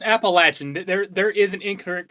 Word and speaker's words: Appalachian: No, it's Appalachin. There there is an incorrect pronunciation. The only correct way to say it is Appalachin. Appalachian Mountain Wrestling. Appalachin. I'm pretty sure they said Appalachian at the show.